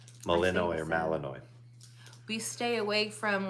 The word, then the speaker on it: Malinois: whatever what is it Belgian malianos Matt Malinois Malinois it's pronounced Malinois right Molino or Malinois stay awake from like